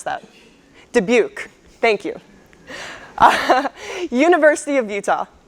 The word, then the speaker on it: Dubuque: of oh my god sean how do i pronounce that dubuque thank you university of utah high point university